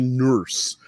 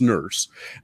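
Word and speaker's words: Nourse: writer named alan e nurse that's how it was pronounced n-o-u-r-s-e but pronounced nurse um began with an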